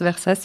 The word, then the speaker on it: Versace: Moi, je prononce Versas, mais ça se dit aussi Versace. Quel est ton processus créatif?